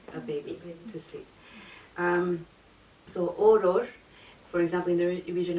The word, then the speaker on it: Օրօր: So in Armenian it's like the literal word for lullaby is Orår. Orår. So see, it's like two syllables and it repeats.